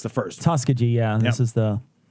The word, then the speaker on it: Tuskegee: Tuskegee, yeah. This Yep. is the Tuskegee. Tuskegee. Thank you. I never Thank pronounced you.